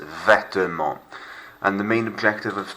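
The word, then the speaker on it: vêtements: Silent T, silent S. Vetements.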